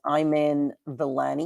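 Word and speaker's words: Iman Vellani: to butcher her name I believe it's pronounced I'm in villani you see your name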